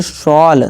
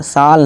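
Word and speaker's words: shawl: इसी तरह ये SHAW शॉल, साल नहीं शॉल।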